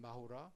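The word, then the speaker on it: マフラー: And then Japanese kind of Japanized English into like Japanese style pronunciation and Mahura.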